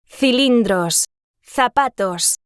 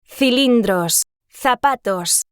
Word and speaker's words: cilindros: Cilindros, zapatos. You'll notice that with the distinction category, the letters C and Z sound very different from the letter S.